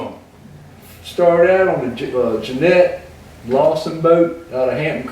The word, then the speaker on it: Janet: It's spelled Janet, but in Seaford everybody pronounced it Jeanette.